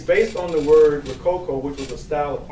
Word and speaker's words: Rococo: Then there's Rococo. Rococo is basically, again, something similar to steampunk, but it takes place in a 17th century perspective. You know, like pirates, swashbucklers. It's based on the word Rococo, which was a style of architecture that was